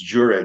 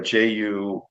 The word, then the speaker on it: Jure: So it looks like June, but it's Jure, Jure.